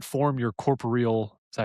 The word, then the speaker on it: corporeal: to make a patronis and not form your corporeal.